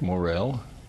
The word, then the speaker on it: Morrell: s so we get your name pronounced correctly um well my name is Morel I uh retired from the University about 15